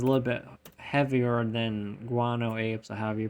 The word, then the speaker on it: Guano: I did pronounce it right. It is Guano.